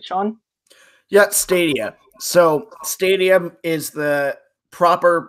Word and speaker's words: Stadia: Yeah, Stadia. So, Stadium is the proper plural pronunciation and word for stadiums.